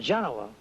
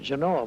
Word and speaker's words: Genoa: When we were in high school, we pronounced it Genoa, but I guess that Genoa is the correct pronunciation nowadays.